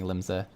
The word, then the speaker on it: Limsa: time in the chat i see everyone saying limsa um lindsay uh i feel like i'm saying it wrong uh branson says oh